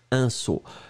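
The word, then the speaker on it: sceau: Et regardez, on l'écrit S-C-E-A-U. Un saut.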